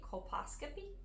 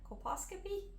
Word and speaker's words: colposcopy: to go in four and I will probably pronounce this wrong a colposcopy copas yeah colposcopy c-o-l-p-o s-c-o-p-y colposcopy yes I think so and